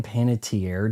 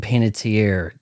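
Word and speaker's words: Hayden Panettiere: It says Hayden trending Hayden Panitier. It might actually be pronounced panitier I think she said once dead at 36.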